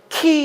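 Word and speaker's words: χ: 영어 x 처럼 생긴게 헬라 으로는 키 이라고 읽었던 거 기억나시죠 오래전 신학교 다닐 때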